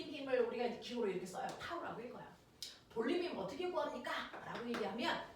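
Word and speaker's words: τ: 타우라고 읽어요.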